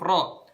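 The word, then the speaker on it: ر: Kalau misalnya kalian masih baca rohim, kalian masih salah ngebaca huruf ro. Huruf ro itu bacanya gini ya. Ro. Suaranya ditebalkan. Jadi suaranya itu naik ke atas langit-langit, bukan ke depan.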